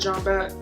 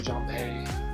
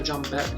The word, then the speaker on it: Jambette: I used to think her name was like Jambé, but it's not. So Jambette, you can pronounce it